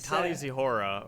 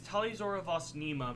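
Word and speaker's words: Tali'Zorah vas Neema: you are born on is different it's like talia zihora or something out i mean oh i don't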